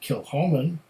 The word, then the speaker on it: Kilchoman: it and here it says established in 2005 kill Holman pronounce kill Holman it's one of the smallest distilleries in Scotland